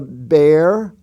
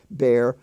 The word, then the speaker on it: bear: delft were the words bear bear tear wear and swear all are spelled with an e a but they sound like a long a they don't sound like long e they smell like long a bear pair tear now t-e-a-r also uh